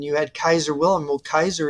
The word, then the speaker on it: Caesar: had Kaiser Willam well Kaiser is the proper Latin pronunciation of Caesar he did that's some